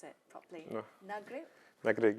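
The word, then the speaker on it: Nagrig: in Egypt I do apologize if I don't pronounce it properly nagri nagri nagri yes there I got it right a small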